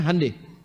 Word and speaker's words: Hyundai: Hyundai itu dibacanya hande.